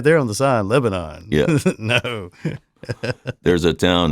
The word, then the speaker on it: Lebanon: And so, but the thing that tripped me up, and this is the point of the thing, is I mispronounced Lebanon. It's not Lebanon, it's Lebanon.